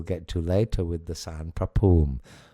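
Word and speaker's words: ศาลพระภูมิ: And the U in pum is a long U like a double O and there's no P H.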